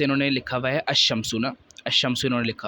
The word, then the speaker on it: الشمس: پہلا حرف شمسی ہو، تو ال کے لام کو حروف شمسی میں مدغم کر کے پڑھیں گے، یعنی لام کا تلفظ نہیں پڑھیں گے۔ یعنی انہوں نے لکھا